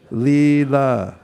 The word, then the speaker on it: Leela: drama this is called two syllables starts with an L ends with an a Leela everyone say Leela we